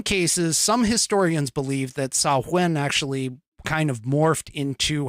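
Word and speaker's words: Samhain: is spelled s-a-m-h-a-i-n and it is a Gaelic word and again I'm going to pronounce it it's saw when okay which in some cases some historians believe that sauwen actually kind of morphed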